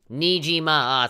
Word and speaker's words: Nijima: Nijima! 3 syllables, fuck.